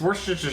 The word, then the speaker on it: Worcestershire: this correctly because i learned about how y'all pronounce things forced sauce yes from lee and parents oh that's the good stuff it's worcestershire sauce that's the good stuff all right i